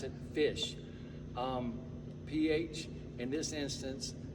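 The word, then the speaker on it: Phish: but they're different they spelled us p-h-i-s-h but pronounce it fish um ph in this instance sounds like so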